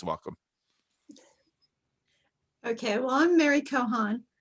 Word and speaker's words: Kochan: Okay, well, I'm Mary Kochan. The C is silent just to confuse people.